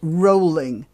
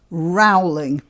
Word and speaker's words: Rowling: way by the way the name is pronounced rolling not rowling the british are most